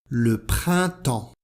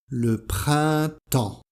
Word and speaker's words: le printemps: l'hiver et le printemps le printemps alors on a premièrement la nasale 1 1 et la nasale en en le printemps les lettres P et S ne se prononcent pas le printemps alors pour